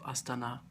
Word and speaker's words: Astana: notice that you um put this stress on the last syllable of aana it means capital in